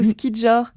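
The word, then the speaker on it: skijor: Le ski joring, ou ski jor. Ça s'écrit S-K-I-J-O-R.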